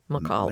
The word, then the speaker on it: McCall: McCall.